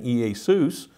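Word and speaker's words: Ἰησοῦς: We understand how the name Jesus was not originally pronounced like we pronounce it in English. In Greek, it would have been Iesus.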